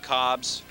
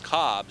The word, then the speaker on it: Cobbs: I want to apologize to Breon Cobbs. The program has him listed as last name being Cobb, singular, but his real last name is Cobbs, so sorry about mispronouncing your name, Breon.